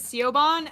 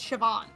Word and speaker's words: Siobhan: I heard it pronounced I was pronouncing it as SEO Bond and thought it was a man's name before I realized it's Siobhan it's just the original